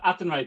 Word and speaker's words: Athenry: explain and how to pronounce Oh, sorry. It's the Fields of Athenry, Julie, or the fields. Fields of Athenry.